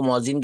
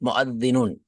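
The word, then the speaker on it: مؤذن: मुअद्दिन, मुअज्जिन को मुअज्जिन कहते हैं, अरबी में सही प्रोनाउंस मुअद्दिनुन।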